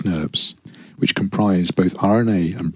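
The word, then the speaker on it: snRNPs: composed of five individual small nuclear ribonuclear proteins pronounced snurbs which comprise both RNA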